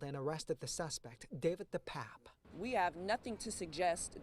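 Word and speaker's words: DePape: attorney says the suspect's name is actually pronounced David the pap not the Pepe at the time that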